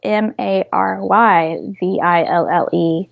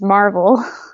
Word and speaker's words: Maryville: calls it Maryville but in our area local dialect is Marvel no way so that's